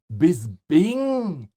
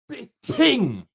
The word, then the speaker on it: Bisping: And for Michael, do more people pronounce your name with a B in the middle, Bisping? Or correctly with a P, Bisping?